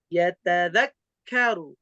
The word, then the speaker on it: يتذكر: Tasdid itu karakter bacaannya itu naber atau nabroh. Ditekan atau dinaikkan suaranya. Yatadzakkaru. Tapi kalau bacanya yatadzakkaru itu nggak ada tasdidnya. Baru ada tasdid kalau dinaikin suaranya. Yatadzakkaru. Baru ada tasdidnya. Tapi kalau lurus tidak ada penekanan, maka tasdidnya nggak ada.